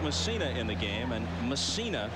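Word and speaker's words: Mussina: in the game and messina is the way he prefers to have it pronounced all the controversy last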